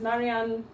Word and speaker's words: Marjan: so my name is marianne um it's spelt m-a-r-j-a-n uh but the j makes the y sound like the york or around johannesburg or something like that and um i don't